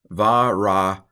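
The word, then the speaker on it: וְרָחַצְתְּ: Varakatzt. That's weird, isn't it? We have two apparently silent schwas right in a row.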